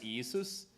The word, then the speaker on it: Yeshu: was actually probably Yu because the galileans couldn't pronounce the shin and they couldn't pronounce the ah of the Ion at the end so his his name